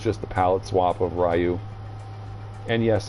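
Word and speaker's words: Ryu: the pallet swap of Rayu. And yes, I still call him Rayu because that's how we always pronounced it in the arcades.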